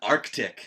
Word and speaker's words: Arctic: Arctic, not Arctic. There's a C in there.